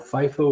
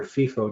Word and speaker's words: FIFO: This is standard retail practice, and it's called FIFO or FIFO, depending on which way you like to pronounce that, but it's first in, first out, meaning you always use the oldest drum first.